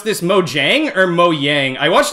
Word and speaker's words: Mojang: you guys pronounce this mojang or mo yang i watched a video about this where they're saying like this is originally a swedish word that's pronounced mo yang oh hold on i